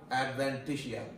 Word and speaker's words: adventitia: this is the abacus we call the tunica adventitia this is how you pronounce it adventitia okay sometimes this is